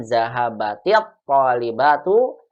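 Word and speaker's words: ذهبت الطالبة: Ketika kita membuat dengan jumlah fi'liyah, maka cukup kita katakan zahabat at-talibatu ilal maktabati. Dibacanya menjadi zahabati at-talibatu ilal maktabati.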